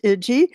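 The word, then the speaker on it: Ige: David, I think it's pronounced Iji, governor of Hawaii, said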